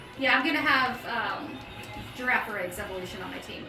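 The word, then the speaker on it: Girafarig: keep hearing more people saying for a giraffe and I hate it because it sounds like refrigerator my giraffe is not a refrigerator but it is technically the pronunciation that seems to be winning out so yeah I'm gonna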